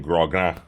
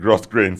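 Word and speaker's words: grosgrain: Grogan. Grogan. I said gross grain some time ago, and I almost got crucified. Oh, really? Oh, okay. But it's Grogan. I think that's the way it's pronounced.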